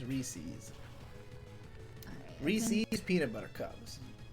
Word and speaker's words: Reese's: Because they're trying to say that like Reese's is the proper pronunciation. I've always seen it as Reese's.